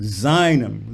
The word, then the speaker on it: seinem: And words like seinem, lean on the sei, not Tal bei seinem Namen, lean on the stressed syllables.